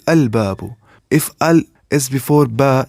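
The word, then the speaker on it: الباب: Then lam of alif lam will be pronounced, because huruf qamariyah are not pronounced with tip of tongue, but lam is pronounced with tip of tongue.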